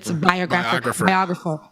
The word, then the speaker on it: biographer: It's a biographer. Okay, it's my Haitian syllable breakups.